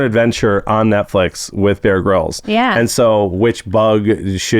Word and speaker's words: Grylls: Wait, that's how you say that? I always said Grylls. No, it's Bear Grylls.